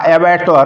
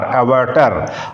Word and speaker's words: abattoir: ऊपर जो मैंने शब्द बताया एबेटर, उसका स्पेलिंग होता है ABATTOIR, एबेटर।